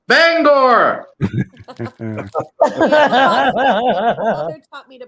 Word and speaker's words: Bangor: No, it's Bangor, Maine's airport. That's the only time we say an R. Bangor.